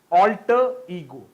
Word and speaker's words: alter ego: So the right pronunciation of this word will be alter ego.